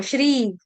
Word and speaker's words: श्री: सही उच्चारण क्या है? श्री है। बहुत बार गलती से डिवोटीज श्री बोल देंगे। सपेरे वाला स यहां पर नहीं है। सपेरे वाला स नहीं है।